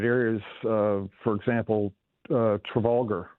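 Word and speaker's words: Trafalgar: Uh for example uh Travolgar uh Traffar we call it pronounce it here on the shore.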